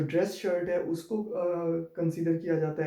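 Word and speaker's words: Haus: तो यहाँ पे भी आप देखें तो ए और यू का कॉम्बिनेशन आ रहा है, ए और यू का कॉम्बिनेशन आ रहा है। फिर इनको आउ करके प्रोनाउंस करेंगे, हाउस, आउटो।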